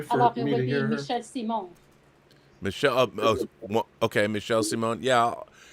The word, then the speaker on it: Michel Simon: Castle Grayskull, Michel Simon. What would that be pronounced in French? Is there an E at the end or no?